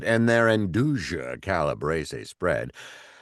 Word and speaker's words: Nduja: And their Induja Calabrese spread, I'm mispronouncing it every time, is No, you are saying it basically beautiful.